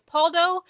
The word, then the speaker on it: Pauldo: I believe you pronounce their last name as Paulo.